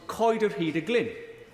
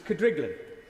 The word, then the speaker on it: Coed yr Hyd y Glyn: To my amazement, she said that the one she recalls best was Coed yr Hyd y Glyn, a property within my constituency that even locals wrongly pronounce as Cadriglin.